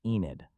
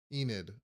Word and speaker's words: Enid: The correct pronunciation is Enid. Enid.